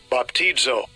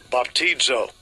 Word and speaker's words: Baptizo: Baptizo. Baptizo. Yeah, and that would be the pronunciation in the Greek for this word baptize.